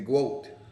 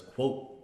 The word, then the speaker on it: GWOAT: I thought she pronounced it as quote. Quote. Yeah, quote. Greatest woman of all time. Yeah, but how she said it was like quote. Like the GWOAT. It sounded like she said quote.